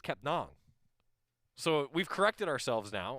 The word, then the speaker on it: Kepnang: So Frank, we had called him Frank Kepnang, right? Like that's how it's spelled, N-A-N-G. And Frank actually was like, actually, it's Kepnong.